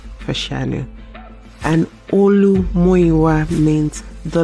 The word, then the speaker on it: Fashanu: This is how you're supposed to pronounce Olu Fashu's name. His full name is Olu Muiwa Fashanu.